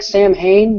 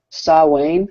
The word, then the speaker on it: Samhain: right the it's it's it looks like Samhain but it's actually pronounced saw wayne or something like that and it's me it's